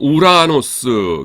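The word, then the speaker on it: οὐρανός: 그래서 오오미크롬 입실로 나면은 어 우 발음이 나요. 그래서 요거 두 개가 한 세트이기 때문에 여기 그 약기식이 그 두 번째 거에 붙어 있죠. 그래서 우라노스입니다. 하늘이에요. 어 우라노스.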